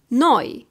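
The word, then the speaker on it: neu: wow it's smoke then is pronounced like the last letters in the word joy for example noi it means new or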